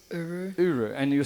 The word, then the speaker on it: URU: It's URU. URU. And you were saying that's spelled U-R-U.